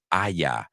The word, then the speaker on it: haya: The first word is Aya with a silent H.